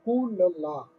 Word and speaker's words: Cooloolas: Now, this word is pronounced differently by different people. It is Cooloolas, right?